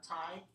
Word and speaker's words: Thai: Tie, like a tie that you sometimes wear with your suit, or to tie a ribbon or tie a string. Yeah, so this is how we pronounce this one, Thai and Thailand.